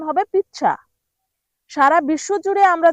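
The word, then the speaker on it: pizza: পিজ্জাকে Italian ভাষায় বলা হয় পিচ্ছা। মানে ইতালিয়ান উচ্চারণ হবে পিচ্চা।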